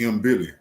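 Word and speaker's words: Mbilli: Chris, I'm just call It's M Billy. M Billy.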